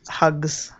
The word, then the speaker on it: Hux: It's actually pronounced Hugs.